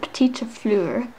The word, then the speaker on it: petite fleur: My mom says to pronounce it petite fleur, so I'll try my best when it comes to that.